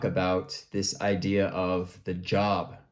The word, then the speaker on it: Job: So in the Bible, there was somebody named Job, right? It's spelled J-O-B, but it's pronounced J-O-H-B, like Job.